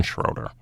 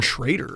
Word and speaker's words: Schroeder: So the Minnesota Wild traded Dante Salaturo to the Columbus for Jordan Schroeder. Jordan Schrader.